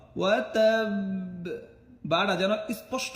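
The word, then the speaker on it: وَتَبَّ: এখানে 2টা ঠোঁট চাপ দিয়ে ধরে ছাড়বেন, ওয়া তাব, একটু ধরে রাখবেন 1 সেকেন্ড বা 2 সেকেন্ডের মতো। ওয়া তাব, বাটা যেন স্পষ্ট না হয়ে যায়, ওয়া তাব্বা এমন না।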